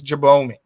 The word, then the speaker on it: Jabome: I do want to say the pronunciation is Jabome. So Jabome, Darrell, welcome to Edmonton once again.